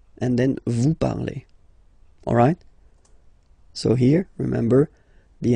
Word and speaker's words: parlez: Let's see now for vous parlez, okay? Remember, a z, when you combine them together, you get the sound e.